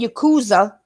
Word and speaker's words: Yakuza: Now, instead of saying, now, how do you do a Z sound? Z, right? Z, right? Yeah. And is an M sound. Instead of saying Yakuza, he said Yakuma.